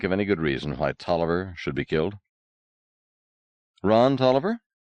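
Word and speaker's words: Taliaferro: that's the original spelling said Gwen but it's pronounced toer just the same are you sure quite sure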